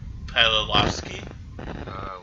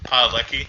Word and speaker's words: Padalecki: Jared Padalecki. Lecky, I think. Lecky? There's an S at the end. Okay. Padalecki.